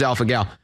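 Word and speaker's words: alpha-gal: and developed Alpha gal is it Alpha gal guys is that the pronoun pronunciation it is Alpha gal and that's the now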